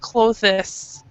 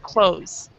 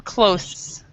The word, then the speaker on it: clothes: In American English, we actually pronounce it clothes. So you do not actually, yeah, do not actually pronounce the th.